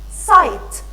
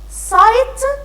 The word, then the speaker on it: sight: number eight a eight g h we don't pronounce this the g h i